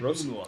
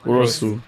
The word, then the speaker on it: Rossiu: Rossiu. Rossiu. Rossiu.